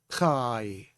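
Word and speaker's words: חי: Let's look at the word chai. We have a patak underneath the hay, so it has an A sound. Chai. And with the Yod, chai.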